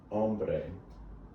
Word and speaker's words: hombre: woman ombre means man remember h is silent hombre el hombre means the man it's